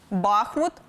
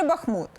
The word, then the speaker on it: Бахмут: українці певно в топі неправильне наголошування Бахмут чи Бахмут чимало українців усе ж обирають Перший варіант і впевнені в правильності вимови тож як казати щоб не помилитися деякі філологи все ж підтримують подвійний наголос Утім я все ж схиляюся до наголошування саме останнього складу адже по-перше річка що